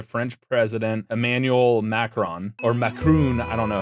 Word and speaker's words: Macron: He sent an official letter to French President Emmanuel Macron, or Macron, I don't know how to pronounce it. Macron.